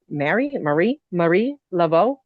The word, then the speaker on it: Marie Laveau: Marie Laveau. Okay. Marie Laveau.